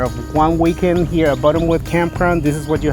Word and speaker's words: Buttonwood: A lot of times his accent sounds like Bottomwood, but it's Buttonwood.